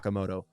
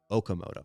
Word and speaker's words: Okamoto: Not Okamoto. Kazuma Okamoto.